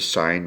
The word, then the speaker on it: sine: three ratios okay um this one's pronounced the sine ratio even though it's shortened to sin and in a right